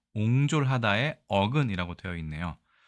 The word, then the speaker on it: 壅拙: 시간이 단어에 대해서 알아보겠습니다이 단어는 우리가 옹졸이라고 읽습니다 옹졸 하다에 어근이라고 되어 있네요